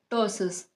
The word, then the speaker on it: ptosis: tosses. That's how we are going to pronounce this.